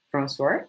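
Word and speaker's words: François: name is francois gunnottitude francois it's like the pronunciation in french because i'm from different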